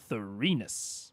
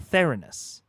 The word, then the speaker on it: Thorus: Theus okay not thees thorus okay God Matt just loves putting the emphasis on the middle salal syllable emphasis on the middle salable thorus not thinus Theus artagon serenus where